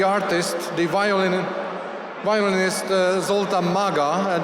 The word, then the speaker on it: Maga: the violin violinist zultan Maga and you have heard the name rightly it's spelled m a g a Maga I told him that